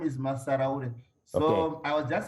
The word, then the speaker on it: Massaraure: you want to help me with the pronunciation again of your last name? Oh, my last name is Massaraure.